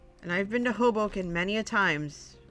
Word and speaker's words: Hoboken: wanted to give positive encouragement before teasing it's pronounced Hoboken and I've been to Hoboken many times it's right outside the city New